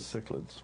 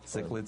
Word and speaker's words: cichlids: address convergent evolution in I think it's pronounced chiseled fishes cichlids cichlids all right I used